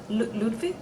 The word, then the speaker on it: Ludwig: It's a W pronounced a V. Ludwig, okay?